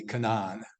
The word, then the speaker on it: Canaan: uh the conquest of Canaan there again here's your pronunciation if we really want to be right about it be Canon but uh We've uh